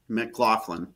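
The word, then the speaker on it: McLaughlin: how do you say his last name mlin mcclaflin mcclaflin okay yes so I feel I feel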